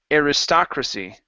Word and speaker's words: aristocracy: Okay, right here, this big word is pronounced aristocracy.